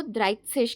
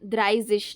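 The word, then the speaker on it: dreißig: एंड तो द्राइत्सेश 30 को द्राइत्सेश कहते हैं, द्राइजिश नहीं, क्योंकि एच सेट की क्या प्रोनाउंसिएशन होती है मैंने आपको उस वीडियो में बताया, स साउंड होती है, ज नहीं होती है ना, द्राइत्सेश, ठीक है।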